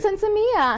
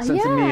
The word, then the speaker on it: Sinsemilla: Sinsemilla. Sinsemilla.